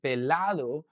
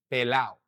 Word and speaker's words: pelado: He doesn't actually say as well, tengo el pecho pelado, right? This would be a really proper pronunciation of the word. And instead of saying pelado, he would say pelao, pelao. This is something that we do quite often in the Caribbean, okay?